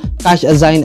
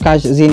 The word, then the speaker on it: Cashzine: ating screen Ayan so ito yung cash zign or cash zin Depende sa pronunciation niyo Bahala na kayo Ayan